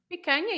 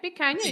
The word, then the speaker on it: picanha: Oh, we need a pronunciation note on picanha. Picanha, yes, picanha. You said it perfectly.